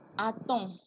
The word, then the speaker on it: a-t-on: A-t-on, y a-t-il, a-t-on, y a-t-il. When there is no T, like on a, so you are doing the inversion, you do a-t-on, so you add a T.